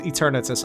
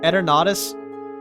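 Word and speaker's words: Eternatus: sick I love eradus also it's not pronounced eternus I don't care what the Pokemon company says eradus is how it's really pronounced it's a really cool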